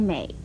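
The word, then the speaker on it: 浼: 和娩字很近似的还有这个美字，美字的国语注音是摸诶美，三声美。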